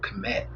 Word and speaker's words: Kmet: We got a guy named Cole Kmet. That's how you pronounce his name.